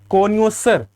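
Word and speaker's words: connoisseur: Okay, कोन्योसर ये word का जो है प्रोनाउंसिएशन ध्यान देंगे, इसको बोलते हैं कोनियोसर, है ना।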